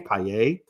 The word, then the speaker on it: Paillet: I learned that's how you actually say his name, Paillet.